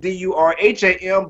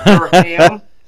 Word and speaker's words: Durham: We spell it D-U-R-H-A-M, but it's not two syllables. It's not Durham.